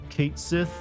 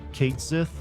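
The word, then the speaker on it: Cait Sith: uh speaking of contentious issues I heard that Kate Sith from Final Fantasy 7 finally had how his his name is pronounced confirmed by squarex and it is in fact Kate Sith and a lot of Scottish people or apparently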